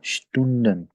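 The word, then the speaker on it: Student: देते हैं अ, ये, अब देखें एस के बाद आ गया टी, तो अब फिर एस जेड की साउंड बल्कि शीन की साउंड देगा। क्या हम प्रोनाउंस करेंगे तो ये क्या होगा, स्टूडेंट, आवर्स को कहते हैं, ठीक है।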